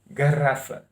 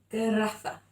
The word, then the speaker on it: garrafa: I was taught to say R with the throat because my teachers were from this area of Portugal.